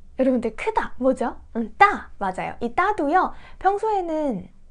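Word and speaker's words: 没: 할 때는 매일을 사용했었는데요 이 글자도 메이 말고 뭐 라는 발음이 하나 더 있습니다 그래서 한글의 의미로 몰라 가다 떨어지다 이런 의미일 때는 뭐 라고 발음한다 란 기억하시는 되겠어요 그래서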